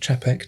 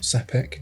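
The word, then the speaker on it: Czapek: Talking of Bobby Dazzlers, Chapek, which I learned is pronounced Chapek, not Sapek.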